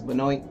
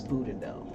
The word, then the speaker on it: Boudinot: And I was mispronouncing his name as Benoit for like 3 or 4 days. So shout out to everybody that was patient enough to correct me and help me enunciate and pronunciate his name correctly. So it's Elias Boudinot. So if you hear me accidentally say Benoit, you know who I'm talking about.